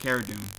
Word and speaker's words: Cara Dune: Or Cara Dune, I think it's pronounced Cara Dune.